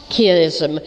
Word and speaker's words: chiasm: And I don't know if we pronounce it the same in British English, but it's chiasm.